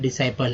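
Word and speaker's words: disciple: Pronunciation जो मेरा है डिसाइपल है।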